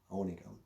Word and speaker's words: Onigum: And then when I learned Ojibwe, I learned that the O is always long, like in OJIBWE. You don't call it OJIBWE. O's are long O's. And so my grandpa, he pronounced it the correct way, Onigum.